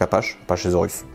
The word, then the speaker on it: Apachesaurus: Oui, parce que ça vient de Apache. Voilà, donc là on prononce comme ça se prononce normalement. Donc Apachesaurus.